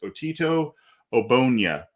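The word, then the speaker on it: Otito Ogbonnia: intrigues you and i i'm going to hopefully pronounce his name the way i've unders understood his name to be pronounced as otito obonya and yeah interior defensive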